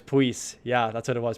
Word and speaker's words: Pius: Also, I think his name's pronounced like Pius or no, it's something weird. So I was way off of my pronunciation. Like, it's not Pius, but Puis? Yeah, it was Puis.